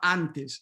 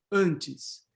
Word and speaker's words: antes: Not antes, but antes.